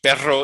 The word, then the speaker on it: perro: It's like in Spanish, it's the Spanish in pero for but, which if you said pero, it would be perro, it would be dog. So, Spanish is a language that makes the difference between a single trill and a lengthened trill.